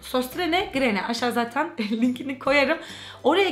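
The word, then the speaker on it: Søstrene Grene: Ama Utku E sstr ne grene diye okunuyor sanırım bayağı yazıldığı gibi okunuyordu o mağaza Aynen o değişik oı var ya onların ö gibi Ok sostrene grene aşağı zaten linkini koyarım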